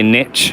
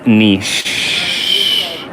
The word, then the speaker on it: niche: Oh yeah, and make sure you say niche, niche, niche, because it's a French word. Because people, they always say niche, and it really just like boils my blood, because that's not how you say it. It's niche.